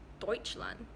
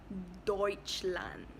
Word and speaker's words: Deutschland: this year and Germany in German it's is Deutschland Deutschland it's not futile and I yeah it's not